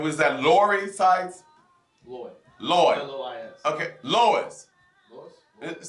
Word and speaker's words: Lois: Lloyd Sykes. Lloyd, hello. Makia Edwards. Makia, and was that Lori Sykes? Lloyd. L-O-I-S.